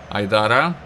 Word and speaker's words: Айдара: Айдара. Именно так фамилия правильно читается этого защитника.